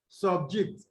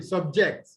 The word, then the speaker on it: subject: arabic word that is a word with two syllables if it's a noun it is stressed on the words for syllable if it's also an adjective in most cases it's stressful what the first syllable but if it is a verb it is stressed on what on the second syllable which is the last syllable is that okay yes